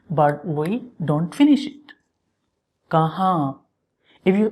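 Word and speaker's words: کہاں: This word in Urdu, it's mean where, kahan, kahan. So we start pronouncing this N, but we don't finish it. Kahan.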